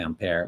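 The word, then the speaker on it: ampère: In France, they would pronounce it ampere, but there's no accent on it.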